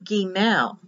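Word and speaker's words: גימל: a d in hebrew the next letter is gimel the i is pronounced like an e and this is for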